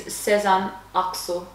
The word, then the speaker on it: Sezen Aksu: And for those of you who are Turkish and are mortified by our pronunciation, it's Sezen Aksu.